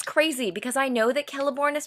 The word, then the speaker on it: Celeborn: It's crazy because I know that Celeborn is pronounced Celeborn.